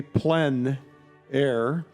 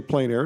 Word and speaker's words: plein air: The French say plein air. Others say plein air. It doesn't really matter how you say it.